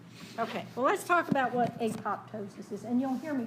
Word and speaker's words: apoptosis: call these names but it ought to be pronounced a PO ptosis shouldn't it just say yeah absolutely because that p ought to be silent because it's part of the word ptosis ya know it's a pop ptosis and there's nothing I